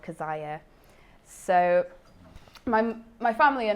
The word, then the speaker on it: Keziah: It's pronounced Keziah as far as I know. Most people, normally people will pronounce it Keziah, Keziah, and I'm wondering if I've got the pronunciation wrong, I'm not sure.